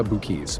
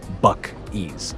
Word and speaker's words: Buc-ee's: Y por cierto, algo importante, ¿cómo se pronuncia Buc-ee's? Porque a primera vista no es tan obvio, se dice Buc-ee's, así, tal cual, Buc-ee's. La primera parte suena como buck, como la palabra en inglés para un ciervo.